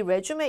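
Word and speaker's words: résumé: 그래서 레주메도 제출을 하는데 이 레주메 이렇게 제출했을 때 얘가요. 레주메라고 할 때 이 뒤가 약간 길게 레주메 이런 사운드로 들려요.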